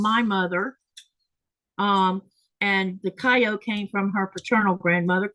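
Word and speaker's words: Kayo: But Lynette has an interesting name because her middle name is Japanese and it's Kyo, but it's spelled K A Y O, but you say it kyo.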